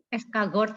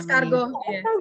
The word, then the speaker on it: escargot: Escargot itu ya Mbak namanya. Escargot. Iya. Tapi saya bacanya sesuai tulisan, ternyata harus baca protein Inggris ya.